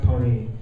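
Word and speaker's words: Pon-3: gave him a name DJ poem three pronounced Pony and um no backstory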